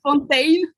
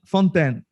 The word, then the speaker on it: Fontaine: have asked you before what how is that pronounced in french is fountain but it's okay fontaine i just don't care don't get me